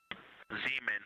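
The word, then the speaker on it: Zeman: Zemen. Okay. And can you say the first letter? I may be pronouncing that wrong.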